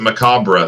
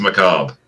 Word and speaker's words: macabre: it turns out that in Britain they pronounce it Macabra, but in the Oh. US it's pronounced macabre.